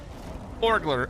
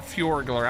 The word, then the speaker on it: Forglar: Forglar, F-O-R-G-L-A-R, I think is how you spell it. Not Fjordglar. I probably did say it like that though, because I love Fjord.